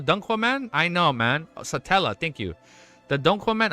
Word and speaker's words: Satella: Satella.